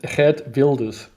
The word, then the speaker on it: Wilders: So I have to correct the pronunciation. It's red builders.